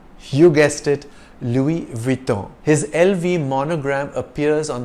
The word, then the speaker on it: Louis Vuitton: as LV to avoid tripping up on the pronunciation of the French name the full form of the company name is Louis Vuitton maltier multi-air is the French word for luggage